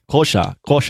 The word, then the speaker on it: Xhosa: No, it's not Xhosa. How do you say it's not called Xhosa. It's called, it's called a Kosha. There it is. There's a click. Kosha. There's a click. There's the click.